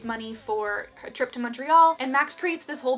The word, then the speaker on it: Montreal: mention that Maddie kept referring to it as Montreal. I am from Canada, and my roommate is from Montreal. It's pronounced Montreal, and it was so frustrating that she kept calling it that the whole time.